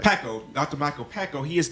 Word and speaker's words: Pakko: That's how you pronounce it, right? Pakko, that's right. Pakko, Dr.